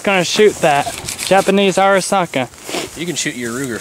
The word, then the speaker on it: Arisaka: how do you pronounce the name of it arisaka arisaka 1927 I don't know it's probably made